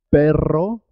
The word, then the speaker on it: perro: Perro se escribe con dos R's y suena doble. Perro, cuando se escribe con una sola R, suena simple. Pero, perro, pero, perro, pero.